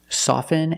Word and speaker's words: soften: about these two words soften and often with both words I don't pronounce the T I say soften and I say often but sometimes you'll hear